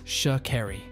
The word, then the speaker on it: Sha'Carri: will not hesitate to correct people when they mispronounce her name. It's Sha'Carri.